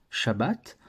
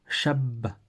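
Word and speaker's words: שַׁבָּת: doublée donc en fait on ne disait pas juste shabbat on disait Chabat comme ça comme si on faisait Shab et ensuite on disait bac Chabat aujourd'hui on le fait plus mais on le sait rester dans l'écriture et donc c'est pour ça qu'il y a écrit deux B dans Shabbat ça c'était pour shabbat et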